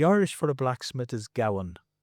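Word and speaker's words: gabhan: The Irish for the blacksmith is Gowan.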